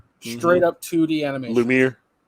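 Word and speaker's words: Lumière: so tigra and uh lumineer straight up 2d animation lumiere lumiere lumiere lumiere yeah whatever lumiere um i thought it was i thought there was three syllable-ish anyway it doesn't matter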